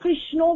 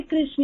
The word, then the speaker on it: कृष्ण: कर सकते हैं लेकिन प्रयास करना चाहिए कृष्ण ही बोलो लेकिन फिर भी कृष्णा आपके भाव को ग्रहण करते हैं आप देखो जो फॉरेनर्स है वो वो लोग कृष्ण भी ठीक से नहीं बोल पाते हैं। वो कृष्ण कृष्ण ऐसे बोलते कृष्णा तो वो कृष्णा उसको भी कृष्ण ही ग्रहण करते हैं क्योंकि उनके उच्चारण में वो शब्द ही नहीं है।